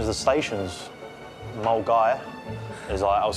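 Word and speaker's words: Milngavie: tick office in glasgow it was just the pronunciation of the stations mulgaire as i was saying mill and gabby or is another one as well i'll do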